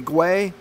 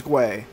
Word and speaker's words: Gwei: I'm going to finally get my Ethermine payout where I set my 40 Gwei. I looked it up. They say pronounce it as Gwei.